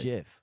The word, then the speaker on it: GIF: No, it's spelt with a G, but people pronounce it with a J. GIF.